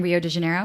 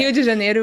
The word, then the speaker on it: Rio de Janeiro: And okay, that's the English way of saying Rio de Janeiro? Yeah. Okay. So I'm like, I think I made that out. Okay. Rio de Janeiro is how we would pronounce it in Portuguese.